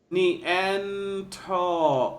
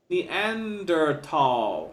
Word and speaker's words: Neanderthal: says Homo neanderthalensis and there's a pronunciation that says in the actual international fact every alphabet knee and toe of Neanderthal yeah or or Thal so okay they're okay with that I'm not but the UK pronunciation says the end or at all although I'm suspicious about